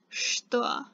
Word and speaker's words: что: So it's written что, but it's pronounced что. So there's an sh sound instead of the ch sound.